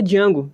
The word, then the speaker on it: Django: Ele começa a falar o nome dele, ele fala, não, eu sei que o D é mudo. Então tem aquelas referências muito bacanas sobre um protagonista negro. Realmente existiu o Django de verdade, né?